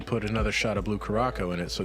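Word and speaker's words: Curaçao: another shot of Blue Caraco in it, so it's even more alcoholic. Or Curacao, I guess is how it's pronounced.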